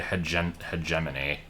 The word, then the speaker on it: hegemony: problem is I don't I always pronounce imbroglio and hgeiminy wrong. So it it can't be in the same like category as those cuz seriously embroio and hegemony are the correct pronunciations and they sound much worse in the way that I say them.